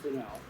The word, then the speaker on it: Fresnel: uh it's actually uh spelled fresno but it's pronounced grinnell this is a inch grenade and by that